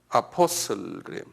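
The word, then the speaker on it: apostle: 여기 이제 영어로는 아포슬그램 영어로 이렇게 써놨어요.에 아파오스 토로스 오스 오스 아까 이런 거는 남성 명사를 오스 오스 그래요.에 베트로스 베드로스 하잖아 그다 남성 명사거든요. 그 영어론포슬 엑센트가 아포슬 포에 있어요.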